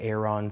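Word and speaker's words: Aeron: people pronounce it differently some say air on some say er and I say Aaron it's not really that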